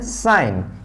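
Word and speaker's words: sign: जी comes before N, जब भी जी एन से पहले आता है तो जी का प्रोनाउंसिएशन नहीं होता है। इसीलिए इसको हम लोग पढ़ते हैं डिजाइन, जी का प्रोनाउंसिएशन यहाँ पे नहीं करते हैं। इसीलिए इसको हम लोग पढ़ते हैं फॉरेन, जी का प्रोनाउंसिएशन नहीं करते हैं। इसीलिए इसको हम पढ़ते हैं साइन, जी का प्रोनाउंसिएशन नहीं करते हैं।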